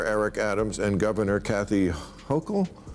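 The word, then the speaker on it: Hochul: Uh, what do you New New Yorkers think of how Mayor Eric Adams and Governor Kathy Hokll Yes. Yes. You pronounced it right.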